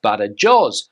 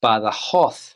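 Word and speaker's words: Badajoz: look at the word you would think it's pronounced B jaw but that's not correct in Spanish you would pronounce this word as B hoo B hoo B ho now another place Nam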